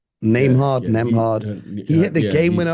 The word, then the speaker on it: Nembhard: Yeah, this kid Nembhard. Is that how you pronounce it? Yeah. This is what I get for not listening to the commentary. I pronounce names wrong. Nembhard.